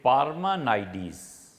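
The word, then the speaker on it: Parmenides: کا ایک معاصر تھا، مختلف طرح پہ اس سے پڑھا گیا ہے کہ اس کا نام کیا تھا، اور ایک تلفظ اس میں سے یہ ہے کہ پارمانائیڈیز۔ یہ پارمانائیڈیز جو تھا،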